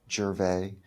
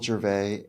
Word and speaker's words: Gervais: All of the kind of social media stuff, Michael Gervais, it's spelled like Ricky Gervais, but it's, not pronounced the same way. So Michael Gervais, I think the podcast is the coolest way.